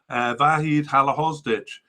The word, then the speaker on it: Vahid Halilhodžić: So Vahid Halilhodžić, Connor pronounced it better, Vahid Halilhodžić, their Serbian manager, was released.